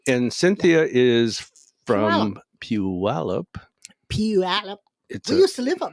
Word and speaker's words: Puyallup: And I know the real pronunciation of Puyallup, the Native American pronunciation. The name of it is called Spishpillup.